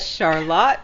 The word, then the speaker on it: Charlotte: up I'm gonna go to Lydia she's gonna pronounce the city I you know correctly Lydia oh yeah right Charlotte Vermont Charlotte Vermont thank you so much and